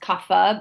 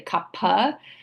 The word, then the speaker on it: Kapha: Sometimes it's pronounced Kapha, but it's actually Kapha.